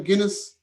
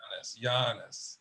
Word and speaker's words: Giannis: last night how do you say his name guinness who yeah giannis giannis giannis be honest so didn't he break